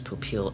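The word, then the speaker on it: Popeil: And I'm getting a correction from chat, it is Popil. Yeah, that's my apology, I've been messing up that pronunciation for a while.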